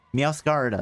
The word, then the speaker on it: Meowscarada: Meowscarada? Oh, like Masquerade, okay.